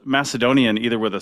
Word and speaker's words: Macedonian: So yes, in ancient Greek, the letter kappa can be either used for C or for K. When you see Macedonian, as in pronounced Macedonian, as in a soft C, that's much more of a Koine Hellenistic thing.